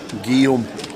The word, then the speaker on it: Guillaume: It's pronounced Guillaume. Guillaume? Yep. How'd you find that out? Because I'm amazing. Guillaume. Guillaume. That's exactly how you pronounce it. And if you're actually in France or Paris, it's Guillaume. But we do it as Guillaume.